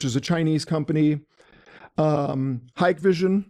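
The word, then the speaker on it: Hikvision: Um Hikevision, it looks like it's spelled like Hickvision, it's Hikevision, also a Chinese company.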